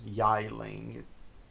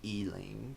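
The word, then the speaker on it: Yi Ling: Rock Drakes, the E-Ling, some people say Y-Ling or Yi-Ling, pronounce E-Ling, but, whatever, I took Chinese as my second language in K through 12, but whatever.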